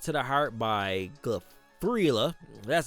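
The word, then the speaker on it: Giuffria: Called to the Heart by Gria, that's how you pronounce that.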